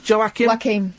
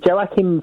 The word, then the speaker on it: Joaquin: Is that how you pronounce Joaquin?